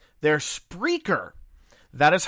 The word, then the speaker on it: Spreaker: mispronouncing the name of the host it's not sper they're spraker that is how they pronounce it themselves and again I still say